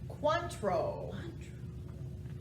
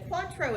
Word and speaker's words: Cointreau: with the c right cuantro is my number that sounds like number four in spanish it's a cork and cuatro is an orange flavored